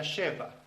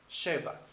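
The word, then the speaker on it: שבע: 7 en hebreo se pronuncia Sheva. Sheva.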